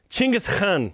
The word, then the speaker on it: Chinggis Khan: How did you say Genghis Khan? Chinggis Khan. Okay. That's how you say it in Mongolian, apparently.